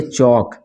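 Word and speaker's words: chalk: उसी तरह यहां पर इसको पढ़ेंगे चौक क्या पढ़ेंगे चौक क्योंकि ए और के के बीच में है चौक अब इससे मिल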